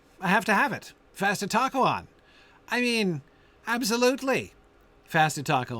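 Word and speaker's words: Fastitocalon: is very insistent and if you don't pronounce it fasta talkalon then it doesn't scan in the lines and it always scans right if you pronounce it that way um so uh anyway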